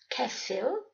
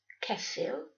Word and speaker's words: ceffyl: as in dafad, sheep, dafad, dof, tame, dof, ceffyl, horse, ceffyl, coffee, yeah, that's coffee, ffrind, friend, frind. RH is pronounced r, not as in the words rhyme and rhythm, but far more pronounced.